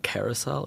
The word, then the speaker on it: carousel: Do you say carousel or carousel? Because I've noticed that I put the emphasis on the second.